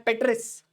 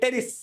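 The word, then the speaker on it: Pteris: Next देखो यहां पे एग्जांपल है पेट्रिस या फिर टेरिस। और ज्यादा बोलोगे तो पी साइलेंटेड टेरिस अगला है एडिएंटम ओके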